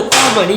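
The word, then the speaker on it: column: सी ओ एल यू एम एन में कहा जो कॉमन में ना साइलेंट होगा ना, कॉमन मतलब स्तंभ है, इनमें एन साइलेंट हो गई।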